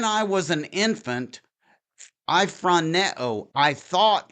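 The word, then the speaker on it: φρονέω: It's pronounced phroneo.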